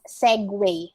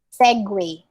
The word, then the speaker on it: segue: and then it's spelled as segu but it's pronounced as segway segway all right so these are this is tricky